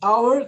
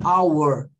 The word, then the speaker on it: hour: How could it be at this hour? Que poderia ser essa hora. All right, guys. A pronúncia hour é, a pronúncia de hour é hour, ok?